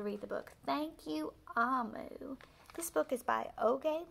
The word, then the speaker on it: Omu: note to the reader amu pronounced ah moo is the igbo term for queen and there's some more